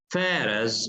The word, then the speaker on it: pharaohs: The pharaohs ruled Egypt for thousands of years.